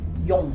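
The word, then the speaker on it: よん: Yon. Yon. Yon. Eh, quando se usa para contagem, usa-se muito frequentemente o Yon no lugar de Xi.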